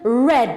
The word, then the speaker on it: read: So the verb to read in the infinitive form is read, or in the present it's read. But in the past form it becomes read, like the color red, all right?